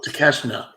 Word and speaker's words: Takeshita: Takeshita. There's no N. See, that would throw me off.